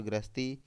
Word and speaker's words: ग्रह: धोखा और दरवाजा अगला गृह और ग्रह दोनों के उच्चारण में अंतर है इसे गृह पढ़ते हैं इसे ग्रह पढ़ते हैं ऑप्शन ए घर और नक्षत्र बी घर और ग्रहस्ती सी ग्रह और घर